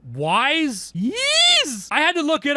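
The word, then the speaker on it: Ys: It was called Yiz Wise. Ease. I had to look it up. It's pronounced ease.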